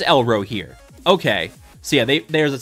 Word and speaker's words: Elrohir: elro here hello here why do I keep saying elro here is it elro here is it yellow here or elro here have I been pronouncing it wrong this whole time no it is elro here okay so yeah there's